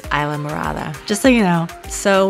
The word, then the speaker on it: Islamorada: It looks like Islamorada, but it's Islamorada, just so you know.